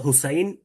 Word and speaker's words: হুসাইন: হ্যাঁ, আবুল হুসেন বলি, আসলে তো হুসাইন।